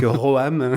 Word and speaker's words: Roam: On va dire Rome. Donc Roam, Voilà. qui s'écrit ROAM